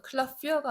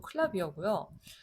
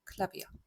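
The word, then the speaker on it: Klavier: 얘는 클라비어. 이거는 클라피어가 아니고 클라비어고요. 요거도 독일 사람 입장에서 보면 외래어기 때문에 원래 그 언어의 발음을 살려주는 겁니다. 클라비어.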